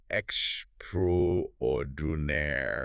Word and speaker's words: extraordinaire: The pronunciation is something like extraordinaire. Extraordinaire. Okay, that's a longer one.